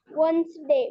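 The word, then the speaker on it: Wednesday: silent letter आहे समजते वेनसडे बघा वेनसडे डब्ल्यू ई डी डी चा उच्चार करायचा नाही प्लीज रिपीट बॅज एज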